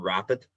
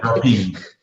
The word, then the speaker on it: Rapide: It's quite funny because I would call that Aston Martin and Aston Martin Rapid, but that's just because I can't pronounce English words. Yeah, Rapide. I think because they're designed